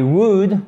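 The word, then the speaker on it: would: soan like your eyes wood hockey c'est la forme contracté de woods avec le elle qui ne se prononcent pas maintenant vous le savez soan like you to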